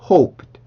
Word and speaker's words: hoped: 그래서 hope까지 발음하고 그 다음에 르 발음을 해줄 때 이 소리가 나는 게 아니라 트의 느낌을 갖게 돼요. 그래서 hoped, hoped, hoped, hoped, hoped, hoped 이렇게 트의 느낌을 갖게 됩니다.